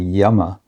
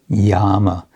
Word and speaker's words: Yama: first of these is called Yama uh which means or it can also be with a long a Yama uh the yamas are